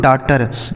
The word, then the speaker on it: daughter: ठीक है, अगला शब्द है DAUGHTER, इसे पढ़ेंगे दोस्तों डॉटर। स्पेलिंग ध्यान रखिएगा इसका, DAU है, GHTER है।